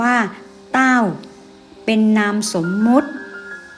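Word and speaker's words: 道: เกิด จาก จิต ใจ คำ ว่า ธรรมะ ภาษา จีน อ่าน ว่า เต้า เป็น นาม สมมติ ก็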